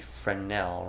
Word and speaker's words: Fresnel: more almost like a Fresnel lens where it's really going to spread that light out. Uh it might be frenel, right? I think the S is silent on that.